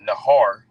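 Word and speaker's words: נהר: So when you get that word flood in the Hebrew, that word flood is pronounced nahar. All right, nahar is flood, and when you get that word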